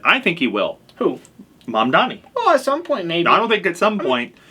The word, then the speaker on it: Mamdani: And that's what Mamdani did. And I hope I pronounced it correctly. Mamdani, yep.